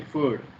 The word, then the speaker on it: food: got to eat healthy food here you must remember f word is not food food second Vu we should not pronounce Wu w food okay next I got